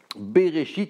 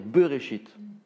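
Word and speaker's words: בראשית: un e au lieu au lieu de dire bereshit il faut dire beurré shit bereshit au lieu de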